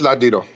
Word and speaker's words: Ladino: Did I say that right? Is there Yes, a link Ladino. between? Wait, say that again. It's Ladino. You said it right.